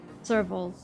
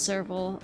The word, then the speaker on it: Serval: Serval's name isn't pronounced like the animal. See, I think I pronounced it a different way when I first read it as well. What was it pronounced again? Serval? Serval.